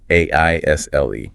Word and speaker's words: aisle: A is but the S is silent here too. The pronunciation is simply an a wo. It sounds exactly like the word isle meaning a small island or all as in I will. Right.